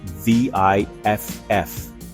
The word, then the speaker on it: VIFF: Enter the Vancouver International Film Festival, better known as VIFF, pronounced like the sound you make when someone asks you to explain the ending of a David Lynch movie.